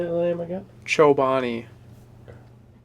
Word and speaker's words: Chobani: it how do you say that lame again Chobani okay